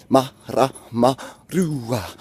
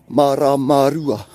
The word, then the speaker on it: Maramarua: Ma, ra, ma, ru, a. And then you just start saying it faster, and then it falls into place. Maramarua, Maramarua, Maramarua.